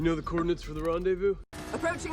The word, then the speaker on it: rendezvous: that are not pronounced the s on the end is not pronounced as well and o u is pronounced as u so it's random you know the coordinates for the rendezvous approaching rendezvous point and when there